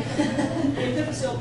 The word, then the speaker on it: epiphyseal: Stop saying that right. With the emphasis on the right syllable. The epiphyseal plate.